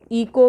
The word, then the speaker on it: echo: First है जो हमारा वो है इको भी बोल देते हैं, ईचो भी बोल देते हैं, ये अपनी अपनी प्रोनाउंसिएशन होती है, ठीक है। पर मैं इको बोल रही हूँ, ठीक है।